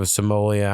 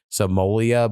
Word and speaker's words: Somalia: people or people from Somalia. I don't know. I keep saying Somal Somoleia, but I don't think I'm pronounc uh Somalia. Somalia.